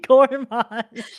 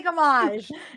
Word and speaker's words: Gommage: Stop saying gourmage. Damn it. I'm trying to say gamage. Gamage. I'm trying to say it correctly.